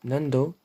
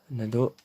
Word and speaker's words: Nando: Enfin non, pardon, Nando. Mais nous on dit Nado.